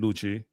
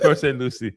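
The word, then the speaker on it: Port St. Lucie: Luchi or or um West Palm. I love how you say Port St. Lucy. Luchi. Luchi. Port St. Lucy.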